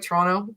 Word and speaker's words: Toronto: because like we're like Toronto. Like we don't say it like we say it with no T at the end. Take the T out, Toronto.